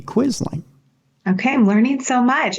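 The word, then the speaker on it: Quisling: yeah and he says Norm quit being a quizzing you know quit being a traitor to your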